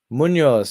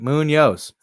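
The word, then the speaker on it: Muñoz: it I see it Muno oh I up my saying his name right Muno it doesn't have the pronunciation usually it has their pronunciation so I'm not here saying it wrong oh here it is Moos Moon Yos I'm saying it right Moon Yos hell yeah I am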